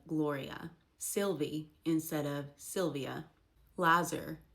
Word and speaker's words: Gloria: Glory instead of Gloria.